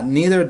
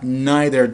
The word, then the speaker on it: neither: diyebilirsiniz İkisi de olur Burada da aynı şekilde ya Nether diyebilirsiniz ya da neither diyebilirsiniz buradaki anlamlar yine bir